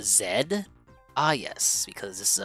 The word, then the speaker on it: Zed: this this I know his name is z but he's act it's actually pronounced a zed ah yes because this